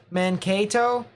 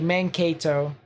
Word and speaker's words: Mankato: Mankato? Is that actually how it's pronounced? There's no way. Person who lives over there said so, I think. Or who lives around there. That makes sense, actually. Mankato.